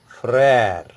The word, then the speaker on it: frère: Now another example, you get frère. F-R-E, accent grave, R-E, frère. Frère means brother.